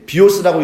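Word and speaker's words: βίος: 자, 영어식으로 읽으면 뭐라고 읽냐면 그렇죠. 예, 비오스라고 읽는데 이게 영어식으로 말하면 바이오라는 말의 어원이 돼요.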